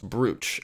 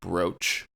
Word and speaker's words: brooch: Geoff is using the original pronunciation, brooch. Apparently this pronunciation is because the word used to be spelled B-R-O-A-C-H in Middle English and only recently changed.